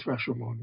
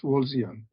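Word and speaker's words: Rawlsian: It's not Rashon. It's Rosian.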